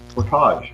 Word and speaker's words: portage: Yeah, but that's the way it's pronounced. Portage.